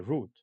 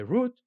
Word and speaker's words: route: To cut across is another one, and that means to make a shorter route. You can say route or you can say route. Both pronunciations are correct for this word, R-O-U-T-E.